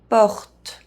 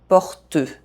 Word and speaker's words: porte: First of all, E as the last letter of a French word is silent. Porte.